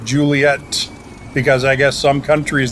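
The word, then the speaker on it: Juliett: with one t but the phonetic alphabet actually has two T's on the end so everyone knows to pronounce it Juliet because I guess some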